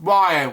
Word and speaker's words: Rian: And Spike talked about he was and his wife Melissa had shared a daughter, Rian, pronounced Ryan.